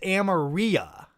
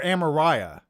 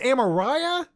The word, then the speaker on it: Amariah: would be fine amaria so it's ameria or amariah is the am so it's amariah amariah amariah okay i got amariah okay i think i